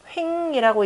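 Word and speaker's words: 衡: 그래서 그 합종 연횡가들이라고 할 때 합종 연횡이라고 할 때 연형이라고 쓰고 읽을 때는 뭐예요? 횡이라고 읽죠.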